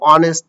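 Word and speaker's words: honest: consonant হওয়ার কথা কিন্তু এ বাট এস এর উচ্চারণ কিন্তু হ এর মতন হয় নাই ঠিক আছে ও এর মতন অনেস্ট বলি আমরা তাই না হি ইজ অ্যান অনেস্ট ম্যান দ্যা sun rises in দা ইস্ট দা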